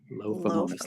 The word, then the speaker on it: Lophomonas: I always say Lophomonas. Lophomonas, like loaf of bread.